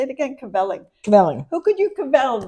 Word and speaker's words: kvelling: Kvelling.